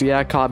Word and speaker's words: Jacob: and the 92 of Jacob Pronounced Yak Cop Anderson.